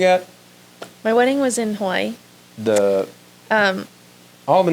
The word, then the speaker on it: Hawaii: And then there's the island of Hawaii, or Hawaii is actually how you pronounce it.